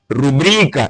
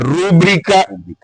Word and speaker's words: rubrica: Se eu disser, por exemplo, em vez de pronunciar rubrica, eu pronunciar rúbrica, poderei ser desvalorizado, certo?